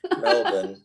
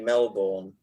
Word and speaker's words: Melbourne: the show Andrew hello well done on the pronunciations of those obscure places by the way clev spot on Melbourne spot on a lot of people say Melbourne including my mom but um you got it